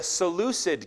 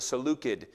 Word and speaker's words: Seleucid: This kingdom was called the Seleucid kingdom. You actually would have pronounced it the Seleucid kingdom, but that sounds weird because everybody else says it the other way now.